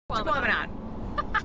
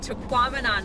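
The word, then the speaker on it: Tahquamenon: And now we're going to our campsite in Taquamenon Falls. That is a mouthful, but it sounds like phenomenon, so we have to like remind ourselves that's how you say it.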